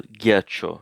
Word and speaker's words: ghiaccio: Il ghiaccio. This is a new word for me. Il ghiaccio, it's the ice. Ghiaccio. Il ghiaccio. Looks like the H is silent here. So il ghiaccio.